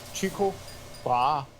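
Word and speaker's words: Tycho Brahe: and purposes they pronounce the way to properly pronounce it is chiku bra so you're not far off think Rose wait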